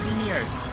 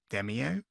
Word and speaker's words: Demeo: That is how it's pronounced, by the way, Demeo. They do say it in the game. I thought it was Demeo, like demo, but with an E in the end, but it's not, it's Demeo.